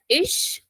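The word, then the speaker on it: ich: s Sal right so I is pronounced as ish ish now see in many parts of uh Germany people also call it IG but that is rare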